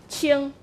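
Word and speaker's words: 清: Qing, that would be the isolation. When you pronounce it in isolation, that's qing.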